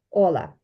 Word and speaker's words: hola: його там правильно вимовляти в іспанській мові завжди якщо слово закінчується на іншу голосну наголошено і буде оця попередня я її тому і виділила синеньким ола але є люди які кажуть ола бо вони ніби співають тому якщо ти скажеш ола це теж буде правильно Ну переважно ми всі